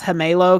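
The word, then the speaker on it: Gemelo: like people don't know it's pronounced hamelo because it's spanish um yeah so everyone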